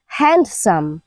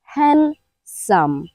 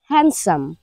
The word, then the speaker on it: handsome: আমাদের হ্যান্ডসাম আছে HANDSOME, এটা কিন্তু একটা সাইলেন্ট ডি লেটার ওয়ার্ড। আমরা অনেকেই কিন্তু এটাকে এভাবে উচ্চারণ করি হ্যান্ডসাম। ফার্স্টে হ্যান্ড বলি, হ্যান্ডসাম, কিন্তু হ্যান্ডসাম বললে ভুল হবে, আপনাকে বলতে হবে হ্যান্ডসাম, হ্যান্ডসাম।